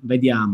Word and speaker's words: vediamo: come this word is, vediamo is a dolce, molto suave, no? Vediamo. It's like it sounds nice, he says. It sounds very nice. Vediamo, no? Very no hard, no? It's very... It's not vediamo. Like German. Yes, it's very... No? Vediamo, come ti amo, no? It's the same.